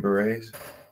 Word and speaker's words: beret: Green Berets. Green what? Berets, like the hat, beret.